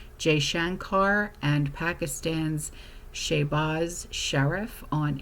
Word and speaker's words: Jaishankar: Well, Secretary of State Marco Rubio has urged de-escalation, speaking with India's, how the heck do you pronounce this? It's Jaishankar and Pakistan's Shehbaz Sharif on April 30th, and the U.S.